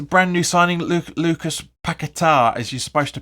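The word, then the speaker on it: Paquetá: to which the brand new signing Luke Lucas pakatar as you're supposed to pronounce I know we all call him paquetta but it's he's his nickname is after the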